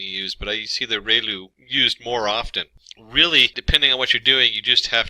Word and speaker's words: ReLU: we have the relu it's pronounced like rey the from the sun and lu like a name so relu function and we have